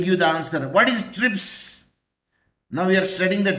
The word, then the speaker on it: TRIPS: it is acronym Professor it is an acronym because we pronounce it as a one word can you say t r i p s no I did not